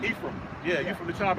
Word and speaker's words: Ephraim: Man, what does, because I'm Puerto Rican, I just looked over and I see this, I'm not sure how to pronounce it, Ephraim? Ephraim.